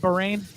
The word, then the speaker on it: Bahrain: I mean, we just had the first race of the season, the Bahrain. Is that how you say it? Bahrain? Yep.